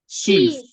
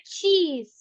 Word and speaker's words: cheese: Che chees cheese cheese cheese Che chees chees cheese ada penekanan di awal ya cheese bukan chees aja kalau cheese aja